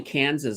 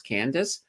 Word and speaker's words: Candace: This guy I used to work with years ago, he called me Kansas, like the state, and he just couldn't. I don't know what it was. He could not pronounce Candace, but I thought it was kind of funny.